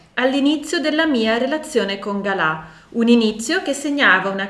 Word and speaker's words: Gala: Chi era Galà? Galà o Gala, a seconda che si voglia pronunciare alla francese oppure no, io sono abituata a pronunciarlo Galà.